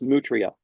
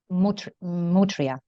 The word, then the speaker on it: Mutria: It's Mutria. Mutria. Mutria. It's French. It's French.